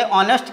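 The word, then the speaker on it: honest: दूसरा एग्जाम्पल है एन हॉनेस्ट, यच को साइलेंट करके ऑनेस्ट के रूप में पढ़ा जाता है, तो यहाँ पर एन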